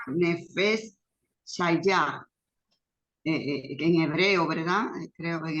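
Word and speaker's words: נפש חיה: Así que Mira, sí, entonces esa palabra que, bueno, se sí, pronuncia Nefesh Shayah, en hebreo, ¿verdad?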